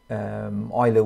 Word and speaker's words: Euler: But Euler was a Swiss German, so it's a German pronunciation of the name, so it's Euler.